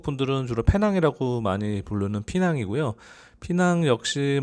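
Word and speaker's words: Pinang: 한국 분들은 주로 페낭이라고 많이 부르는 피낭이고요. 피낭 역시 뭐 도시 규모가 좀 있어서 그런지 범죄율 같은 경우는 약간 높은 편 정도 나타내고 있는 것 같아요. 현지 분들은 페낭을 피낭이라고 부르더라고요.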